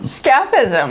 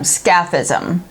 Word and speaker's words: scaphism: nightmare Brewing Company and it is skepticism scapa's oh my god let me spell that for you because if you're unfamiliar its SCA pH is M SCAF ism it's a 17% knock your